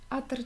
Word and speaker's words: Атера: Атера читается с первого слога.